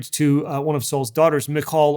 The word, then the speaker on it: Michal: one of seoul's daughters michal or michael as we often say her name she actually finds out